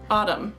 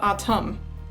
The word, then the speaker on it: Autumn: call me AUM but I say my name is pronounced AUM not autum T's tend to turn